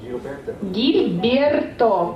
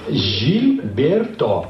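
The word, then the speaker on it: Gilberto: Могу я спросить, как правильно произносится ваше имя? Хосе Жильберто. Гильберто. Правильно? Гильберто? Нет, Жильберто.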